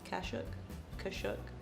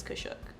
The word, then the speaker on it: Kashuk: I think that's how you say it. Kashuk, something like that. Doesn't even have the lettering on it anymore because I use it that much. It's Kashuk.